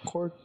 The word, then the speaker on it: Korg: That's how you pronounce it, Korg, right? Yeah, Korg.